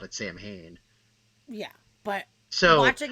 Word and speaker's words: Samhain: That motherfucker said Sam Hain, which is that's how it looks like it's pronounced. But anybody that knows anything about this in any way, you don't pronounce it Sam Hain. It's fucking Samhain.